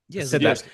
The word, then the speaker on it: Zdarsky: Zdarsky.